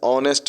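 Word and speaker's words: honest: 27 Brutus is dash ऑनेस्ट मैन H consonant है लेकिन इसको बोला जाता है ऑनेस्ट इसलिए इसमें आ जाएगा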